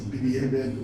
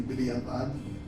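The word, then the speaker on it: בדיעבד: And that is, we find the concept in halacha of lechatchila, and what we mispronounce as b'di'eved, or more precisely b'di'avad, which means one is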